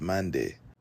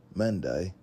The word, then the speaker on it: Mande: Or perhaps when the Europeans made contact with them and asked who they were, the reply that they received was Mande, but the British pronunciation likely came out as Mandai.